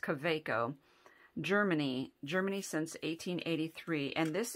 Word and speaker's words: Kaweco: This is, I thought it was Kaweco, but I hear it pronounced Kaweco.